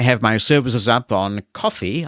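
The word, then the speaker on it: Ko-fi: my services up on coffee I think that's how you pronounce it it's c o dash if I and Linkedin I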